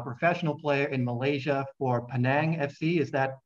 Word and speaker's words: Penang: Today I have my friend David Rowley with me, a professional player in Malaysia for Penang FC. Is that how you pronounce it?